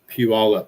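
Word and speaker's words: Puyallup: Puallup. Weird name. Yes. Um, a lot of people have a hard time pronouncing that one.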